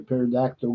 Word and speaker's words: pterodactyl: Why can't you hear a pterodactyl go to the bathroom? Cause the P is silent.